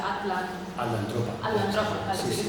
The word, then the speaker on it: Atlantropa: Això m'has dit com es pronuncia? Atlantropa. Atlantropa, sí que es pronuncia així.